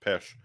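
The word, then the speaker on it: Peć: and there's this one I think it's pesh like PEC pronounced pesh and it's uh they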